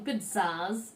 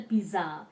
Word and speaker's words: pizza: I ordered 3 medium pizzas. Now remember, we don't tell pizza, it's pizza. There is a silent t there without actually it being there in the spelling. So you call it pizza.